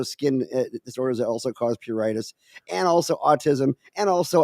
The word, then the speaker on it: pruritus: in regards to the control of pruritus, and that's the correct pronunciation, has a lot to